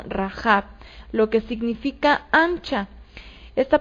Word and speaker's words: Rahab: El nombre original de esta mujer no es Rahab, como lo vemos en nuestras traducciones al español, sino Rahab, lo que significa ancha.